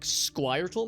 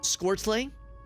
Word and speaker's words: Squirtle: I pronounce it with the word squirt and then an ol at the end. To be honest, I've never considered other pronunciations. Maybe like Squirtle, maybe? Squirtlay?